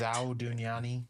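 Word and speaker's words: Zaudunyani: Now the Zadunyani, is that how you pronounce Yep, his the sect? Zhao Dunyani. Yep.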